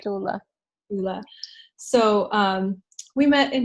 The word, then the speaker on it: Tastula: How would you pronounce it? Tastula, yeah, Properly, right? Tastula.